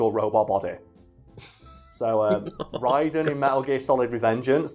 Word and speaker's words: Raiden: gets it worse is ryden and i'm pretty sure that's how they pronounce it in the games and this is one of those things that always that throws me off because in mortal kombat he's called raiden yeah but it's ryden in metal gear solid so